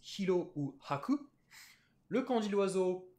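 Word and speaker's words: はく: On se souvient qu'on a le kanji du blanc qui se prononce hiro ou haku, le kanji de l'oiseau tori ou cho, le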